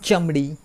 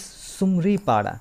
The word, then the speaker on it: Sumaripada: Not Chamdi, not Sumdi. It's Sumaripada.